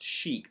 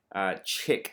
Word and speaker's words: chic: this is Street chic that is pronounced chic that is not chick so remember that as